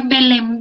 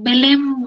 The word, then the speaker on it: Belém: La Convención de Belém do Pará, que aquí les enfatizo es Belém con M, por ahí algunos a veces lo pronuncian como Belé do Pará, pero no, es Belém do Pará.